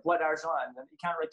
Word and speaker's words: Bois d'Argent: It's Bois d'Argent. That's the best pronunciation I've ever said now in the whole year.